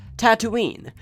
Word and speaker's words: Tatooine: 8000 I and II Tatooine and that's how it's spelled two with two O's just like there are two suns the beginning sounds just like tattoo not to do Tatooine is generally